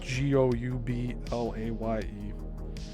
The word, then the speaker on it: Goublaye: I'll just spell the last word of that, Goublaye, and his friend Dennis Gilman, last name spelled Guilmin.